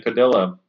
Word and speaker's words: Padilla: Snag and Whiskers with Brian Padilla.